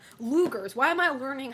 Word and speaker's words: Luger: Wait, that's how you pronounce that gun? I thought it was Luggers. Lugers.